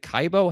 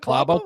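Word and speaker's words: Klæbo: put his greatness into, is it Kaibo? How do you pronounce it? Isn't it Klabo? Klabo. I think it's Klabo sounds right. Yeah, I think that's right.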